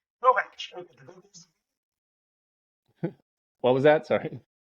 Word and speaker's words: Kowatsch: No, Kowatsch. Kowatsch. Okay. What was that? Sorry. Oh, so it's okay. I saw Yes. W. Yeah, no, it's a German last name. The pronunciation's a little weird.